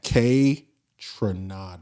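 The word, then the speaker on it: Kaytranada: K Tranada. Trinada. Kronada. Kranada. Tranada. Nice. K. Okay. Person that that I I want to say shout out to K. Tranada.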